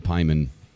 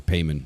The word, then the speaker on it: Paimon: So another question, like, I could keep going with this, like, honestly, like, so I recently with King Paimon, or Payman, however you want to pronounce it, had kind of like,